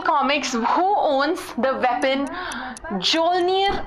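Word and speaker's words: Mjolnir: who owns the weapon Joe near a hammer with a silent M is it a ant-man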